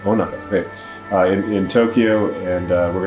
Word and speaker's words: Onoda: Is that how it's pronounced? Onoda. Onoda.